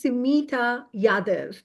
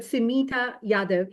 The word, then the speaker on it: Sumita Yadav: So the name is Sumita Yadav. That's how it's pronounced. And thank you for giving the opportunity for me to share the exact pronunciation. I accept all forms, but Sumita Yadav is the correct pronunciation.